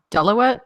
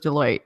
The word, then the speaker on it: Deloitte: just sounds like you're it's like you're saying Delaware and then you like get cut off alright final thoughts though